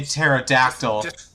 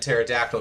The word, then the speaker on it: pterodactyl: do I even Troy pterodactyl love that guy with a p in front of Troy and pterodactyl because the p is silent said the power to